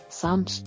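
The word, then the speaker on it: psalms: letter G ಉಚ್ಚಾರಣೆಯಾಗುವುದಿಲ್ಲ ನಾಮ್ ಸಾಮ್ಸ್ ಎಂದರೆ ಕೀರ್ತನೆಗಳು silent letter P ಉಚ್ಚಾರಣೆಯಾಗದ ಅಕ್ಷರ ಸಂಸ್ walk ನಡಿಗೆ ಸೈಲೆಂಟ್ ಲೆಟರ್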